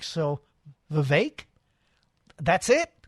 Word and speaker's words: Vivek: he said I'm saying vivec let's see he said pronounce it it's pronounced like cake so Vivek that's it Vivek you messed me up